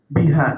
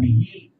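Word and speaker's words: بها: alaula yang lebih utama biha dengannya H di sini kembali kepada Imamah karena muannas Jadi bukan bihi apalagi bihu bukan tapi ini pihak ya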